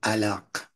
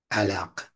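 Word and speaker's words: علق: it is of and alak alak so what is an this is L again L pronounce it to yourself and let it go to the back of the throat that Q sound all right so that's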